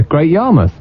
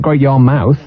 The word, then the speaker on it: Great Yarmouth: how would I say Great Yarmouth yeah yeah Great Yarmouth not great Y mouth you want to get you want to get